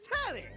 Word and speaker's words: Telly: Then, before we get to what's on, the name's Telly. Rhymes with Nelly.